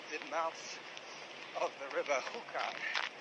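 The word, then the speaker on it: Júcar: mouth of the river Hookah. J U C A R pronounced like the caterpillars pipe in Alice in Wonderland. Hooker.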